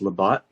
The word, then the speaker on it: Labat: i'll go by the bat but it's it's pronounced labott i apologize that right when i said that